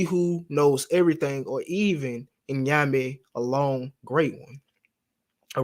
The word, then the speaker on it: Nyame: Some people like to pronounce it Inyame, but it's Nyame.